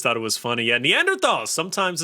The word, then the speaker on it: Neanderthals: I want to say Neanderthals, but I know it's Neanderthals. Does that make any sense? My brain always puts an R in it, and I don't know why.